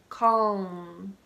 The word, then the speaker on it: calm: my tongue touches the roof of my mouth calm calm calm okay calm palm the palm of